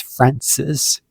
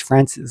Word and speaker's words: Francis: I thought it was Francis, which is Francis, but really she is Francis, like France the country, but with an S at the end.